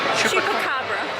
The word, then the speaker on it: Chupacabra: Chupacabra. Like a chupa? Yes. Kind of like chalupa, but without one of the syllables.